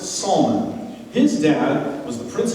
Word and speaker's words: Solomon: city's other founder solomon solomon pronounced salman his dad was the